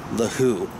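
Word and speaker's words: The Hu: And then there's this Mongolian band that I'm really digging on to that always just gets me going, called The Who, H-U.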